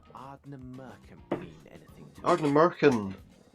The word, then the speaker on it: Ardnamurchan: It's Ardnamurchan, yeah, he's right. He didn't pronounce it wrongly. He pronounced it quite correctly, in fact.